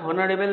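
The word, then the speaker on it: honorable: হয় তারা হয়তো এটা অনারেবল বলবা কিন্তু এটা অনারেবেল না এটার একচুয়াল উচ্চারণ অনারেবল এর উচ্চারণ অনারেবল যেহেতু প্রথমে আস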